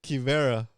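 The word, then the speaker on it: Quivira: Quivera. Oh my god. The U is silent.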